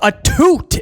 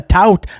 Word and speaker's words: Atout: Anyway, he's being interviewed by Alicia Atoot is how they pronounce I always thought it was Alicia Atout.